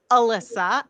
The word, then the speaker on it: Elissa: So my first name is Elissa. I like the mnemonic device for that is Melissa without the M.